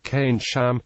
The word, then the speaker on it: Keynsham: this was done because the proper pronunciation of cane cane champ does not make the spelling of keynsham immediately obvious to the radio listener since the 1950s change